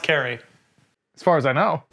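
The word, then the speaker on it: Cary: sure it's not oohs i think it's carrie it's cara it's a car it's not carl yeah carrie it's carrie it's pronounced carrie as far as i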